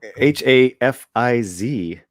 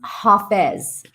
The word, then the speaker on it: Hafez: feasts daily contemplations and uh how do you spell that h-a h-a-f-i-z and uh i think he lived one of